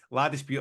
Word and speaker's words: La Dispute: So that a warm response to that, and I don't know how you pronounce this, James. Is it LA dispute?